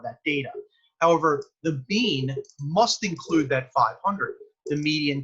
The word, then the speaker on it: mu: u with a tail on it okay that's pronounced mu and that means we're dealing with a population